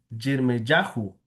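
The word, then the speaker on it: יִרְמְיָהוּ: Entonces, en el hebreo se puede pronunciar Jeremías Jirmeyahu, así se pronuncia en el hebreo.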